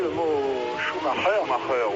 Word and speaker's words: Schumacher: Schumacher, oui, comme on le dit depuis la Coupe du Monde de football, de grande mémoire en France.